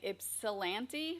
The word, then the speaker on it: Ypsilanti: When you said penis statues, I thought of the water tower in Ypsilanti, Michigan.